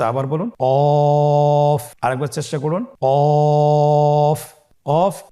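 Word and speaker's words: كاف: কাফের মাখরাজ হলো জিহ্বার গোড়া থেকে একটু আগে বাড়িয়ে তার বরাবর উপরে তালের সঙ্গে লাগিয়ে উচ্চারিত হয়।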